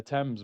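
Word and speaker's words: Thames: I said, "Yeah, I know bro, but they call it the temps, bro."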